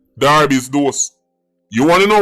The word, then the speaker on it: Derby: up the DAR do d e r b y Jamaican said Derby but when time the football club a so that means pronounce Darby's do you want to